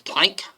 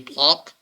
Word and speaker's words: Planck: park um which is plank i often switch between them in german it's pronounced closer to plonk uh so energy which